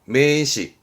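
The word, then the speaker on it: 名詞: 매시. 부사입니다. 이 부자도 많이 보게 됩니다. 부사입니다. 후크시. 조사죠.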